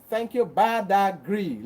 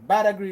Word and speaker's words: Badagry: The next, Badagry. Oh, thank you, Badagry, Lagos. Thank you for that. I thank you for the correction. So Badagry, Lagos. So that will now I can pronounce it.